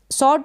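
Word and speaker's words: sword: सॉर्ड का मतलब है तलवार, डब्लू साइलेंट है, एस को स पढ़ा और ये जो ओ है इसको ऑ प्रोनाउंस किया। क्या प्रोनाउंस किया? ऑ। और ये जो आर है आधे र के रूप में इसको प्रोनाउंस कर रहे हैं और डी का ड उच्चारण हो रहा है।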